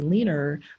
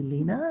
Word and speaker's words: Lena: a lot of times they will put an R on the end of a word, like they'll say leaner, but it's really Lena. Lena. Like it's spelled as Lena.